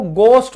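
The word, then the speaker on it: ghost: Silent है इसीलिए इसको घोस्ट बोलते हैं घोस्ट घोस्ट नहीं बोलते 90% % लोग इसको क्या कहते हैं? घोस्ट। घाघरा घोस्ट गलत बिल्कुल गलत। यह घोस्ट होता है। ये देखो घस्ट एच साइलेंट है।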